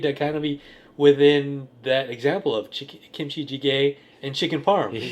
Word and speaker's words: kimchi jjigae: Yeah, is this where kimchi jjigae?